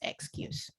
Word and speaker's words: excuse: label here and then this e here is silent because it's giving all the powers to you and therefore it's pronounced excuse okay so i will